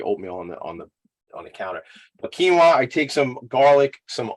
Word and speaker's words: quinoa: It looks like quinoa. It's actually pronounced quinoa, like Jesse knows.